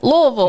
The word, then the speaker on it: Louisville: little one we got Louisville did I say it right Louisville Louisville Louisville that's right hey I listen I